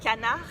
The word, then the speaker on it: canard: So the French for duck is canard. Canard. It's an open A.